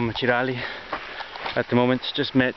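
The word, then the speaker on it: Çıralı: So here we are in Cirali, as I've just found out it's pronounced.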